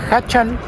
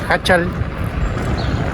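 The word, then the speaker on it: Jáchal: El objetivo de hoy, San José de Hachal, y no Hachal como lo venía pronunciando, San José de Hachal, que queda más o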